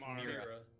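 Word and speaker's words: Mirah: Mariah? How do you spell that? It's Mira. Mira. Oh. Whatever. M-I-R-A-H.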